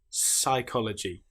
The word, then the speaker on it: psychology: Psychology. Psychiatry. The P is completely silent.